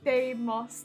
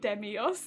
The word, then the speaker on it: Demos: Demos, not Demios. Yeah, I know. I mix up the order of all of the vowels. And it comes out wrong because all the vowels are in the wrong order.